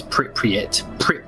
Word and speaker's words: Pripyat: It's Pripyat. Pripyat. Okay. It's like Piet.